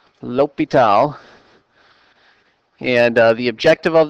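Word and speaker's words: L'Hôpital: this is called lal's Rule is how that's pronounced lital lital and uh the objective of this section is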